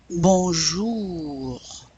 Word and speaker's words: bonjour: Bonjour. It's a dry R at the end.